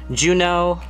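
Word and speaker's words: Juneau: right now on my list of names are Juno pronounced it's spelled the way that the capital of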